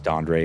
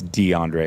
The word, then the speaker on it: DeAndre: It's probably DeAndre. I just read it. I don't know why I read it as Dondre. It's DeAndre. It's got to be. Definitely said Dondre.